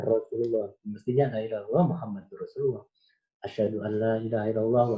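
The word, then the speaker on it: محمد رسول الله: Misalnya pengucapan la ilaha illallah Muhammadur Rasulullah. Bukan la ilaha illallah Muhammadar Rasulullah.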